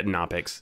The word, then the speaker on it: Knoppix: Did any of you guys play with Canopix or however you pronounced it? Yeah, Knoppix.